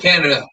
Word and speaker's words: Canada: canada it's canada right canada i think it's canada right it's spelled like canada canada um he's coming in